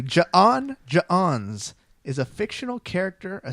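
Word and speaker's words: J'onn: And then I knew- even pronounced it correctly. Ja'on.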